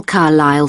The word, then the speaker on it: Carlisle: Could you spell Carlisle for me? Sorry. It's C-A-R-L-I-S-L-E. You don't pronounce the S.